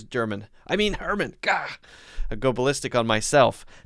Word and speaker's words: Herman: should be interesting oh herman emphasis on the h hermann ah very interesting thank